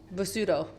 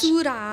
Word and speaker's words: basura: Basudo. Is that how you say trash? Basura.